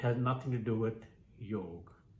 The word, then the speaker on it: yoga: to do with yog it's something that was bastardized by the western world by the westerners who are clueless about pronouncing the right way and in typical western aping fashion the indians adopted it as well and started mispronouncing it something that was inherently part of their own culture and yet they were as clueless about this simple word the simple pronunciation as the westerners because they of course assumed that the westerners know better yog yog yoga